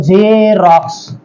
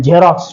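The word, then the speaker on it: Xerox: एक दुसरे स्पेलिंग सांगतो झेरॉक्स हा शब्द तुम्ही वारंवार ऐकला असेल झे त्यामध्ये हा एक्स जरी असला तरी त्याचा उच्चार झे सारखा होतो इतर याच्यात तुम्हाला त्याची मदत होईल झेरॉक्स ठीक आहे एक्समस म्हणजे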